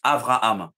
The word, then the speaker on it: Avraham: à la place d'Abraham mais en hébreu le on prononce Avraham exactement donc tu vois et